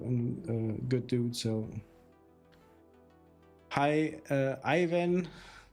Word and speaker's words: Ivan: So, hi, Ivan. Do I pronounce that correctly? In Croatia, we say Ivan, but thank you for the GGs.